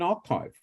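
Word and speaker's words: arXiv: Oh, amazingly, Lawrence, because look, there's a paper published every hour as we speak on a well-known archive called Archive, actually, Archive spelt with an X, from Cornell University.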